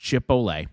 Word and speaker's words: Chipotle: It's pronounced chip ole. It there's no oat pekka.